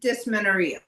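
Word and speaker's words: dysmenorrhea: I would pronounce it dismenoria.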